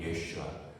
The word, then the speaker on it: 예수아: 우리는 뭐 영어도 발음하고 일본어도 발음하고 그래서 참 또 우리가 보면 한글로 예수는 히브리어로 예수아입니다. 예수아 여호수아거든요. 예수아.